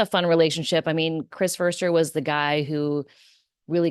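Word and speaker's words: Foerster: Chris fer and mind you it's fer not Forester or Forester or Forester it's Chris firster um I always hear it's pronounced incorrectly anyways um that relationship that Trent Williams has with Chris firster if you watch them during the pregame Trent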